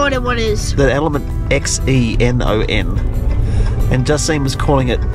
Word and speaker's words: xenon: there was no idea what is the element x-e-n-o-n and Justine was calling it exonon I said how do you pronounce this belt well that's what I said